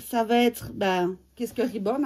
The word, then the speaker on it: reborn: Donc, reborn et pas reborn, même si ça s'écrit avec un E. Ça se dit bien reborn et ça vient de l'anglais, ça veut dire renaître.